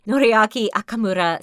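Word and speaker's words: Noriaki Okamura: I'm not thinking I say say it right noriaki akamura stated they don't want to make any promises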